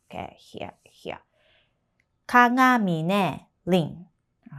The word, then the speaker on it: Rin: And her first name, Rin. 1 2. This is ri Okay, I wrote it down Roman letter, but we pronounce more r not l sound.